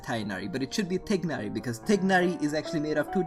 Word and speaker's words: Tignari: How do you pronounce Tainari? Because I struggle sometimes. Also, they did 100%. Well, it's Tignari, because it's made out of two different words. Tig and Nari.